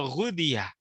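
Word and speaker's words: غُذِيَ: Ya, Ibnu Daqiq mengatakan, huwa bidhammil ghini al-mu'jamah. Dia ghinnya ini didomahkan. Maka dibaca ghu. Ya, ghudi wa takhfifud dzal al-maksurah. Kemudian dzalnya ini dikasrohkan. Jadi bacanya wa ghudiyah.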